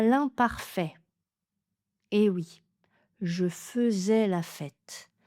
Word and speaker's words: faisais: Ça s'écrit à I, mais c'est un des rares mots qui se prononce eux, enfin ou la graphie. A I se prononce e je faisais la fête et pas je faisais la fête.